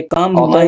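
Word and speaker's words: comb: आई कम अक्सर। हां, ऑफेन माने अक्सर। जी। चुपचाप इधर आइए ना। हां। जी। आई कम माय हेम कॉम माय B silent है हां इसमें बी साइलेंट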